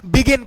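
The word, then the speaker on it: begin: exception है मेरे भाई इसको क्या कहेंगे बिगिन कहेंगे यहां गियर कहेंगे इसलिए मैं का रहा हूं की जी के बाद आई आई ए आने पर भी इनको हम जी पढ़ रहे हैं एक्सेप्शन के शब्द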